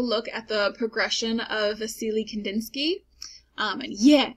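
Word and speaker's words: Wassily: We can also look at the progression of Vasily Kandinsky. And yeah, I said his name right. I know it's a W. That's how it's said.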